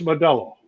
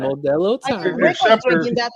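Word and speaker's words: Modelo: This is Mello. You gota say it right. Modello that I can.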